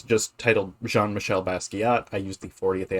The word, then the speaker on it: Jean-Michel: It's Jean-Michel, not Jean Mitchell. Uh, I've heard people mispronounce it, and that's not his name. His name is Jean-Michel.